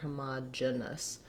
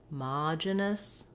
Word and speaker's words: homogeneous: have a reduced vowel this is incorrect here hamad genus with an it or a schwa we also have reduced